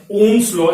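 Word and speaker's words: Ohm's law: तो यही जो स्टेटमेंट मिला आपको, सिंपली V बराबर I R, यही है ओम्स लॉ या फिर ओम का नियम। ये OHM में H साइलेंट है, ध्यान रखना, स्पेलिंग बिल्कुल सही लिखी हुई है, ओम्स लॉ।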